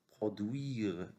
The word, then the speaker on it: produire: Produire. U-I se prononce oui. Produire comme lui.